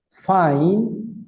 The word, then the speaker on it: fine: mejor y más rápido fine fine Recuerden que la e se escribe pero no se pronuncia y la hice pronuncia como Ay Por eso digo fine Thanks observen por